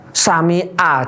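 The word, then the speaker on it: سمع: Sami'a jadinya harusnya ain, ya kan, ganti hamzah.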